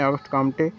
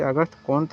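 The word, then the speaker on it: Auguste Comte: उल्लेख किया है कि विभिन्न पुस्तकें अगस्ट कामटे अगत कां कुम काम इत्यादि लिखा गया परंतु तमाम गलत है उच्चारण फ्रांसीसी अगस्त कंत होगा जो वही प्रमाणिक है समाज के जनक किसे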